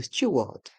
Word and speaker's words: steward: le E français mais on adopte la prononciation anglaise stew le stewward le steward le pilote le pote